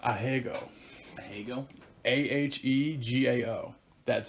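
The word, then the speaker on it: ahegao: it's uh it's pronounced he's in lightness it's pronounced a hegel hegel a-h-e-g-a-o that's how you would spell it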